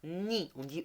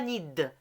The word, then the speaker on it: nid: Et le D, on ne le prononce pas. Ni. On dit pas nid.